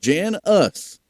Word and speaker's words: Janis: Made sure 2 words, he said, Jan us.